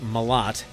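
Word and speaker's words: Malott: the Ontario rain today mot and it is pronounced mot has 23 goals 51 points in 61 games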